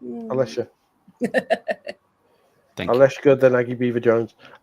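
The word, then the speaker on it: Alessia: I thought I'd say more of Allesia, but either way, I think it's more of Alicia. Alicia.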